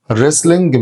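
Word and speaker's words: wrestling: يعني مين الريسلينج المصارعه ريسلين معناها المصارعه هنا طبعا الدبليو سايلنت ريسلين ريسلين ارشري ارشري ارشري يعني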